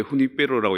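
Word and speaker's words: Junípero: 그 주니페로인데 왜 후니페로라고 얘기하냐면 스페인어는 J가 그 히읗 발음이 납니다. 후음입니다. 그래서 후니페로 그렇게 얘기하거든요.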